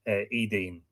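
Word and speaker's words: Étaín: probably tell me that Etain, in earlier Irish, the T, if it was between 2 vowels, should be pronounced more like a D, which is why you get the modern name Edain.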